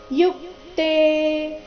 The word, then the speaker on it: ಯುಕ್ತೆ: ರಕಾರ ಇದೆ ಹಯೈರ್ ಅಧಿಕ ಯುಕ್ತೆ ಯುಕ್ತೆ ಅಲ್ಲಿ ಯು ಮೇಲೆ ಆಘಾತ ಬರಬೇಕು ಈಗ ಅದನ್ನ ಜೋಡಿಸಿ ಹೇಳೋಣ